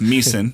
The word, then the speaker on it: Miesen: They're like William Meissen? And I was like, it's Meeson. The I is silent.